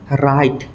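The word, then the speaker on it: wrong: সাম ডবলিউ আরর উচ্চারণ শব্দর আরোমণিতে ডবলিউ আর থাকিলে W silent হয় উদাহরণ কিটা সাম আমি চেনকা right W আর আই TE right W two silent right রং ডবলিউ আর ও এনজি রং W silent রং তাপ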